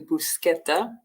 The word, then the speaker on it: bruschetta: we use the CH but um it's actually bruschetta I had to learn that too um spinach